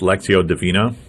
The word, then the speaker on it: Lectio Divina: And in the evening, we did, I think it's pronounced Lectio Divina.